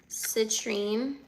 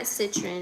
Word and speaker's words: citrine: Citrine. It's not citroen. It's citrine.